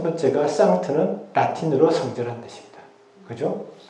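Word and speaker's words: Sankt: 세인트가 아니고 상트라고 하는 것을 라틴 발음에서. 첫 번째가 상트는 라틴어로 성전한 뜻입니다.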